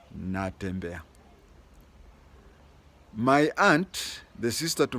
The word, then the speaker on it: Natembeya: I hear non-Bukusus calling him Natembeya, just like the Swahili word of saying, I'm walking. But the proper pronunciation of his name is Natembeya. Natembeya.